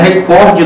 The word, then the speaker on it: recorde: Recorde não tem acento em língua portuguesa, né? Não tem, se pronunciar recorde. Não é? Essa palavra é uma paroxítona terminada em E.